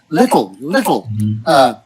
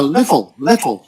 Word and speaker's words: little: No, you're sort of saying little, but little. Now there's that We cannot. Yeah. Little. that LE sound. We cannot say Yeah. T change to D, right? Yeah, little. Yeah, little. Let's see. Little. Little. Now that TUL sound, you gotta toll. Again, you gotta kind of stretch your lips, your cheeks, pull your cheeks back, and then your tongue goes up.